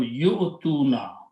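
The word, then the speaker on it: يُؤْتُونَ: So this will become yu'tuna, ya with the dhamma, and hamza with the sukoon, and tuna. This waw is written there, it is not pronounced. This is just a cheer for hamza. So yu'tuna means they give, or they are giving.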